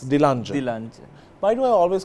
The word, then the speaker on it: Dilanjan: I'm happy to have Dilanjan. Is it correct? No, actually not. It's Dilanjan.